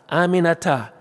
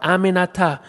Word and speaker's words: Aminata: Aminata, four syllables. It's really not that hard. Aminata, I told her.